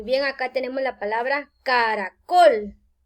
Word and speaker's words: caracol: Muy bien, acá tenemos la palabra caracol. Démonos cuenta que tiene 3 sílabas. Ca-ra-col. Pero la mayor fuerza al pronunciar caracol cae en la última sílaba.